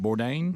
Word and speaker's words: Bourdain: Bourdain. Is it Bourdain? Mm-hmm. Yeah. Adler knows because I didn't realize what Adler was very upset about this. This is Anthony Bourdain, CNN host and celebrity chef.